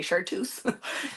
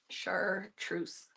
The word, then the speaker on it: chartreuse: that's how always say what did I say chartu sometimes some ours are silent for me chartreuse yeah see I said it chartreuse the second time after you said it I said it wrong the first time see I just lost all my credibility after knowing who vermier was the artist and then I said chartu and didn't put the r in it it was